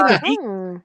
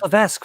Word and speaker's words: Levesque: Did you just say Levique? It's Levesque. What's wrong with you? What's that? Is it actually a nude beach? It's Levesque, it's not Levique. If anybody wants to know the proper pronunciation.